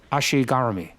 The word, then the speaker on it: ashi garami: a good Ashi garami Ashi garami that's how they say it in Japan my wife corrects me